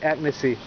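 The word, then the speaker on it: agnès b.: how do you say agnesi i can see who is very agnes okay don't say asian this is not asian i've heard some people call it asian this is agnes ravioli penne pasta fettuccine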